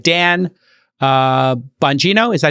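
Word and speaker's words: Bongino: And these included people like Dan uh Bangino, is that how you pronounce it?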